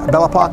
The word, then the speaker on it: Bellapock: foreign hey guys Thomas love here bellapock Realty I am today in Springfield remember bellapock rhymes with clock I'm standing in front of my Lewis listing at 412 West 7th Street it's actually 4 12 and 4 14.